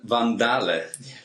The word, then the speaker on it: Van Daele: face to face it's my good friend sim van dale yeah he just coached me on the pronunciation i've said a van dale all the